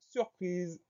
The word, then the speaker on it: surprise: Le son Z, on l'obtient avec un S, puisque celui-ci est encadré par deux voyelles, le I avant, le E après.